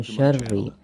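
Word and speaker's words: شَرِّ: Kemudian syarri, nah ini juga sama, ada tasydid, maka lapad syarri itu harus ditekan ya.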